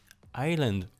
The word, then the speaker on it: island: Island. We don't say the S.